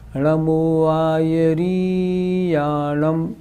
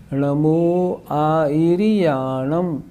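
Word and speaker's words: णमो आयरियाणं: दूसरी बात, री जो है वो छोटी है, बड़ी नहीं। लोग बोलते हैं नमो आयर्याणम, ये गलत हो गया। कैसे बोलेंगे? नमो आयर्याणम, ई और री छोटी।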